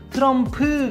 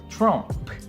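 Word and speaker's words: Trump: 구도 마차 갑니다 트럼프 트럼프 가 아니고 처럼 되는 거죠 트럼프 처럼 트럼프 초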